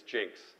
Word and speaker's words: Nginx: But you do know that the first N is silent. The which one? The first one. The first N? Yes, and that's name is Jinx.